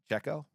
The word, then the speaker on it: Pacheco: in here is Isaiah Pacheco. That's a tough name for me. Pacheco. He's been good. And said it right.